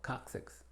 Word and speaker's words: coccyx: Pero cuando procede a la E, I o a la Y, se tiene una pronunciación como KS, como las palabras que vemos aquí. Accept, accidental, coccyx.